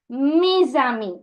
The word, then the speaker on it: mes amis: So, je suis allé au cinéma avec mes amis. Now, the same concept. Okay? Mes amis. Mes ending with an S. The next word starting with a vowel. Now, we'll connect this sound.